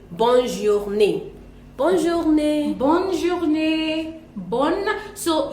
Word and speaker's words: bonne journée: But when it comes to bonne journée, because the N is double there, so we have to pronounce the N and say bonne journée.